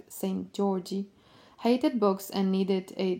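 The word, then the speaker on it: Szent-Györgyi: elucidated as a child Albert sent Georgie pronounced approximately like Saint Georgie hated books and needed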